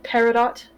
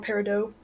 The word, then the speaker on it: peridot: personally on it, with a large cut peridot in his chest, or peridot, depending on how you pronounce it.